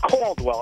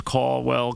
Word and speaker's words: Caldwell: I mean, if you don't like the way I pronounce my R's and L's, then don't worry about it. You know? I'll tell you what. After I'm out of here, the next guy can pronounce Caldwell, Caldwell, Cardwell. If my R and L, if you don't like the way I roll them, you know what?